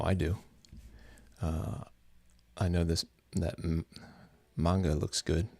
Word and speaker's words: manga: I know that manga looks good. Manga. I think it's pronounced manga, but everybody says manga. Enough people say manga that when I say manga, I feel like I'm trying too hard.